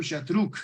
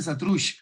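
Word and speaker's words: Xatruch: Había un contingente hondureño también, comandado por don Florencio Chatruc, aquí le dicen Satruch, es un apellido catalán, yo lo pronuncio a la catalana.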